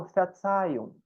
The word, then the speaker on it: Verzeihung: Esse R no meio, assim, gente, ele vai ter um sonzinho de A, meio carioquês mesmo, viu? Igual eles falam porta, etc. Puxa, todo o R eles puxam para o A, né?